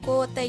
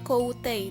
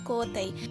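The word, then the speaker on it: 校庭: Ini adalah lapangan kotei, dibacanya biasa aja ya, kotei, jangan koutei. Ditulisnya koutei, tapi bacanya biasa aja, kotei.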